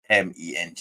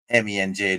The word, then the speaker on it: MENJ: Welcome to your favorite Muslim apologist, the Muslim apologist, and I'm your host, MENJ. Yes, it's pronounced MENJ, not Menj, not Menji, not, not, right? Just simple MENJ, my initials, right?